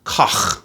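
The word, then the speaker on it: Koch: for a very long time um the honer K harmonica and that's the actual pronunciation by the way k c k o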